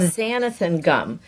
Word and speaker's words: xanthan gum: Now this stuff is a 1/2 teaspoon of xanthan gum. It's spelled with an X.